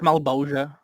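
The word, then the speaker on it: Malebolgia: It's pronounced Malbolgia.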